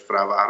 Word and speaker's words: فروهر: در اینجا در بالای نشانی که فروهر نامیده میشود و تلفظ درستش فروهر است، شما خورشید رو میبینید